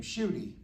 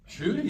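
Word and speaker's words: Ncuti: So now, and you told me that, and you'll have to pronounce his name, Shooty. Shooty, yeah, Shooty Gatwa.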